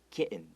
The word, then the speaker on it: kitten: word, we might make it very soft, like kitten. Kitten. 有点 k 往外，然后 n 是往内收 kitten 这样子。So that's a very common pronunciation of words like that, like little, okay?